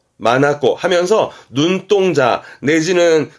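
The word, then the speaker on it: 眼: 발음은 마나꼬 하면서 눈동자 내지는 그 눈동자를 의미하다 보니까 이게 판단력이라든가 간혹 어떤 시야라든가도 의미하기도 하고요.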